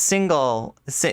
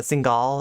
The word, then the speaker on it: Singal: have um so it's single i was always pronouncing it with like uh singal it's single single jesse single book out